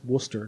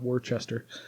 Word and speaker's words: Worcester: kilty by the way rabbits pronounced Worcester not Worchester just so you know uh Worcester kilty